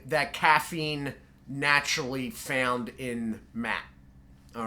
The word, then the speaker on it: mate: caffeine naturally found in matte all right now i don't know if i'm pronouncing that right it's spelled mate but i believe it's matte so that sort of